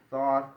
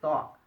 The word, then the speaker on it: Thoth: Enoch is the same person, and it's actually thought. I said it wrong. Thought, like the concept of thought, right?